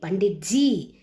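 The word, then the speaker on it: पंडित जी: ப இன் டி இத் ஜி. பண்டிட் ஜி.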